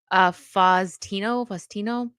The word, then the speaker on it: Faustino: How do you pronounce his name? Faustino.